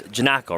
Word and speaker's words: Janocko: I would bring up it's Janocko, right? Andrew Janocko, that's how you pronounce it.